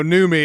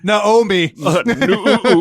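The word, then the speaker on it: Noomi: me and Rooney yeah until someone someone tells us we're mispronouncing you know new me and it's supposed to be know me mean new new or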